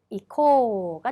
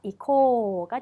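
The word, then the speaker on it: 行こう: 거기에 우까지 붙여서 이코가 됩니다. 자, 마찬가지로 여기서도 발음은 코, 오, 모음, 앞모음을 길게 빼주셔야 된다는 거. 그래서 이코가 된다는 겁니다. 의식적으로 길게 빼주셔야 해요.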